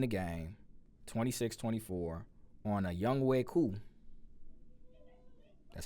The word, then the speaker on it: Younghoe Koo: The Falcons ended up winning the game 26-24 on a Younghoe Koo. That's how you pronounce it.